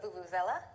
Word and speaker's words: vuvuzela: What's the vuvuzela? Vuvuzela. Yeah, Rob, you kind of added a syllable there.